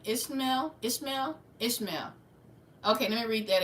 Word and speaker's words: Ishmael: Ishlam. I know that's Abraham's son, the Egyptian, the wild man of the desert. How you say his name? Ishmael.